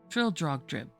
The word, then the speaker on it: Trildrogdrib: It contained a warrant for conducting me and my retinue to Trial Drag Dub, or Trildrogdrib, for it is pronounced both ways as near as I can remember, by a party of 10 horse.